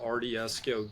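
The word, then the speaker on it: Ardieso: I forgot to mention a shout out to our sponsor RDSO Goods. Um, that is spelled A R D I E S O.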